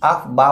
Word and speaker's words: Aufbau: आफ बा बोला जाता है, हम लोग बाउ बोल BAU, इस ताकि आपको स्पेलिंग समझ में।